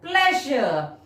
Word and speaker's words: pleasure: clapped her hands with pleasure. Pleasure. How do you spell it, children? P-L-E-S. P-L-E-A-S. U-R-E. Break it into two syllables. Stress on the first syllable, P-L-E-A-S. And pronounce pleasure.